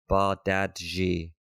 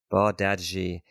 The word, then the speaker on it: Bardghji: The accurate way to say his name is Rooney Bardghji. Bardghji. He said, according to the man himself. Bardghji.